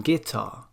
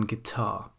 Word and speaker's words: guitar: all children should learn guitar very odd it should really be i am absolutely convinced that all children should learn guitar okay so one reason